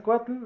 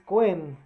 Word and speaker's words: Cohen: Yo sé esa tradición porque es tradición de mi familia, como bien sabes, mi apellido, que lo pronunciaste un poquito diferente, no es Cuatl, es Cohen, es un apellido judío.